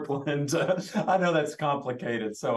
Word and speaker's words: Borland: all this together my last name it's it's pronounced Borland I know that's complicated so I'll give you